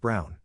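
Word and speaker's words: Braun: of the historical figure Eva Brun pronounced Brown wife of probably one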